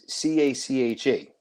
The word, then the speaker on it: cache: That word is CACHE. Mm-hmm. That's short-term memory that goes into the LLM. But those two words are pronounced in English exactly the same, cache.